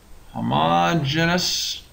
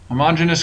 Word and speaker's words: homogeneous: a name it's called homogenous coordinates homogeneous coordinates or you may also hear this pronounced homogeneous coordinates but I like homogeneous better so I'm going to say it that way so the homogeneous coordinate